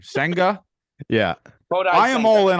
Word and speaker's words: Senga: Senga.